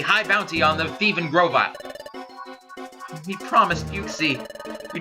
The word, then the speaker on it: Grovyle: name of grovel gravel Grovyle that's why it's pronounced Grovyle that's one piece the work of art people